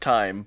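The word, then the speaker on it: thyme: because it's used in like Oh time it's pronounced time okay but I read it like yes I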